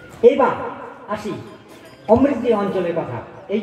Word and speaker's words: অমৃতি: তখনকার লোকের উচ্চারণের জন্য ওটা হয়ে গেল আমাবতী, আমাবতী হয়ে গেল আমারতী, আমারতী থেকে হয়ে গেছে অমৃতি। এবং এখনো কালিয়াচকের লোকেরা আমর্তি কথাটা বলে, অমৃতি বলে না, আমর্তি বলে।